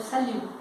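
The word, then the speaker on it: salut: Se terminar com uma dessas, não vai ser pronunciada, por isso que eu falo saliu, tá?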